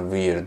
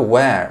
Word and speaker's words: where: Çok garip bir telaffuz. Bir de İranlılar buna weird diyorlar nedense. Bu da where arkadaşlar.